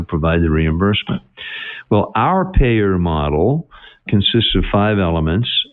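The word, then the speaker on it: PAEER: for the model is p aeer five letters pronounced payer now hopefully you're getting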